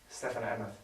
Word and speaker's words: Stefen Emmoth: Stefen Emmoth.